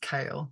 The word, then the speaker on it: Kahal: that's my married name kahal pronounced kale well Leaf said it